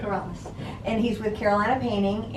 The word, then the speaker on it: Corrales: I said that right, Corrales? Yes. I pronounce it Corrales. Yeah. Corrales.